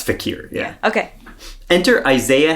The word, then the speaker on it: fakir: or the fakers so but that's not how you pronounce it though no it's fakier yeah yeah okay Enter